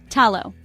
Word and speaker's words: talo: and sharper for example talo house is pronounced with this firm T sound let's try it tallow perfect keep practicing and